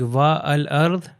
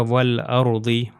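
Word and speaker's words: وَالْأَرْضِ: यानी वो अलिफ को ओमिट कर दिया। अलिफ को रिमूव कर दिया गया। यानी सिर्फ समझने के लिए कि एज इफ के ये अलिफ बिल्कुल वजूद नहीं रखता। और यह वाव जो है लाम से जाके मिल जाता है। तो ये हो जाएगा व अरदी व अरदी।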